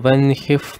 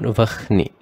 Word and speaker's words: vahni: Pitaro vasa vasadhyā, Hyashvinau maruto manuhu, Vayur vanhif praja prana. Note, although the spelling is given like this, the pronunciation should be made as vanhi and not vahni, right?